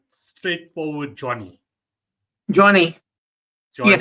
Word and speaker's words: Jonni: So am I pronouncing this right? Straightforward Johnny. Johnny, yes, Johnny, it's correct.